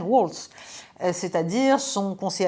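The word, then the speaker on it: Waltz: Deuxièmement, il y a eu l'affaire Walz, c'est-à-dire Walz… Walz, je prononce à l'américaine, Walz, c'est-à-dire son conseiller à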